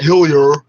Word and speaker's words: Hillier: and it's hilly not hillier you're the ones pretending to speak with a french i'll pronounce uh le jardin all that properly but you don't recognize his french name it's hillier his hill billy as